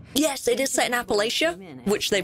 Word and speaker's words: Appalachia: you a smart cookie oh it is pronounced Appalachia I know just how to do it in the region of for real give me one second Appalachia huh didn't know that I always thought it was Appalachia okay I think I'll